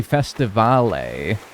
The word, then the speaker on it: Festivale: that Especially festivale, right? That's how you say it. especially festive alle where there's a bunch